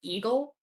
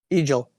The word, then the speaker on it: Egil: Is your name pronounced Eagle? Egil. Egil? Yep.